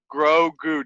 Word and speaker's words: Grogu: doing the thing yeah i wrote it down grow goo just so i can remember the pronunciation and the things that grow okay grow